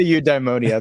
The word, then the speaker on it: eudaimonia: I say eudaimonia. There's a few different ways.